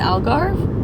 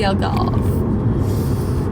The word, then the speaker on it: Algarve: We're in a place called the Algarve. Is that how you say it? Yeah. How do you say it? The Algarve? The Algarve. The Probably Algarve. better known as the Algarve.